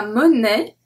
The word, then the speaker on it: monnaie: A, i together make the sound e. E. So we have la monnaie, la monnaie. Une plaie, une raie. So can you hear? I did not pronounce any of the E.